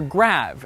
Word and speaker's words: grave: Well, the answer is grave. Or rather, grave, as it would have been pronounced in the original French.